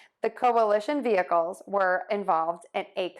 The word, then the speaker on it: coalition: shun coalition coalition coalition one more thing to keep in mind here is that we are going to stress the li syllable and each of these words that means it's going to be louder longer and higher than the others which are going to be shorter softer and lower in pitch so let's try those